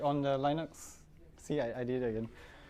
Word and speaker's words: Linux: Hello, this is Linus Torvalds, and I pronounce Linux as Linux.